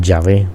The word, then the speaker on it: Yahvé: Es un sonido semivocálico que se usan en español, también se usan en inglés y en alemán. Entonces por eso estamos pronunciándolo de esta manera.